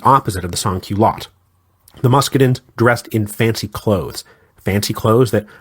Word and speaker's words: Muscadins: These were the Muscadins, and I'm going to use the conventional English pronunciation for that.